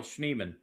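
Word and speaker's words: Schneemann: And I guess I've been pronouncing it'san. I think I've been calling him but it's Daniel Schnean.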